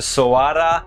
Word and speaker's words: Soarer: It is, of course, a second generation Toyota Soarer, which rhymes with koala.